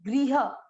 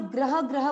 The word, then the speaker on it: गृह: हम जो घर के लिए एक शब्द लेते हैं गृह, उसको कई लोग ग्रह ग्रह बोलते हैं। जो घर के लिए संस्कृत शब्द होता है ना गृह, वो गृह ये वाला है, और जो नक्षत्र के लिए ग्रह है वो ये वाला है। उच्चारण दोनों का सेम करते हैं, वो गलत है।